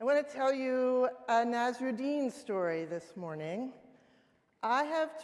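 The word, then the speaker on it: Nasreddin: I have told a couple of Nazarine stories before and in the past I pronounced it Nazruden which turns out to be wrong. It's the wrong way to say it.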